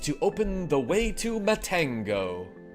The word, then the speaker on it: Matango: Use your magic on the orb in this forest to open the way to Matango. It's not Mantango. That's how I used to pronounce that when I was a child, too.